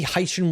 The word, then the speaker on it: Hycean: And this week's story is pretty cool, which is that you you remember the Hycean world K2-18b? Hycean. Ocean. Hycean.